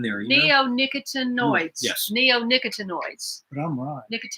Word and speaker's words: neonicotinoids: neo nicotine noise yes neonicotinoids he's right yeah we saying it wrong you're leaving out two syllables now they do call